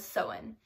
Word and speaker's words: Samhain: start off for celebration that originated Halloween was sowon sowon is spelled like this which looks like Samhain but